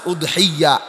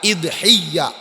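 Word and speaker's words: أضحية: এই শব্দটার আরো উচ্চারণ আছে, উদহিয়া, ইদহিয়া, দাহিয়া, সবগুলি আরবি উচ্চারণ।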